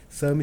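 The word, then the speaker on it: SAMHI: SAMI se escreve S-A-M-H-I.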